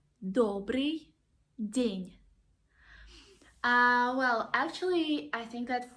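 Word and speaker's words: день: min and others so just imagine that you pronounce the word near and this knit sound is there at the end of the word Dania Dania okay the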